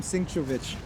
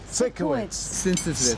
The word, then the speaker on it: Sikowitz: Sam Sinkowicz. Sikowitz. Sikowitz. 3 syllables. It's a Scottish name.